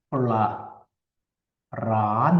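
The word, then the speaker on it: ปลาร้า: 이것 은 발음 하지 않습니다 . 여기서 는 'l' 발음 이 생략 됩니다 . 그러면 우리 귀 에는 이렇게 들릴 겁 니다 .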